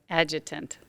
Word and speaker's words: Adjutant: Adjutant. It almost sounds like adjunct professor.